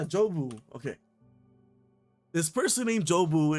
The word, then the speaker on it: Jobu: man who says uh um Jacob and now I'm getting that name wrong what is it what is it right yeah jobu okay this person named